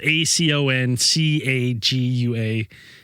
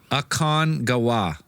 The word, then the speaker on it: Aconcagua: It's spelled A C O N C A G U A. It's a mouthful. Aconcagua.